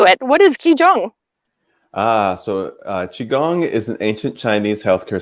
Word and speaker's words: qigong: got in king how do you say it qigong yes okay if i mess up just laugh